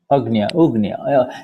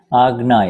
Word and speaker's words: Agnya: Agnya. Because otherwise, if I use the word agnya, porque lo contrario, si yo utilizo el término agnya, people will confuse it with agna, you see.